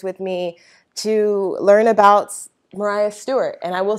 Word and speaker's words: Maria: women 1830 to 1850 you'll notice that I pronounced what looks like Maria as Mariah that is the way the